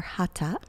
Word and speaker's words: hatha: have some flow in our hatha today, or hatha is the pronunciation.